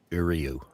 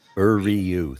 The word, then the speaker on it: Uriu: Okay, the pronunciation guide I looked up does indeed say Uriu. Okay. Ryu? Uriu, three Uriu.